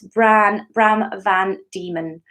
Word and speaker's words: Bram Van Diemen: Andy Chaplin says, oh, sorry, Bram, I've been pronouncing your name wrong. It's Bram Van Diemen.